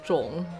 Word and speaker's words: 众: It's pronounced 重 and it means group of people.